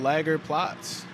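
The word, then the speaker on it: Lagerplatz: see me over at lager plots it's a long a but it's all right yeah very cool very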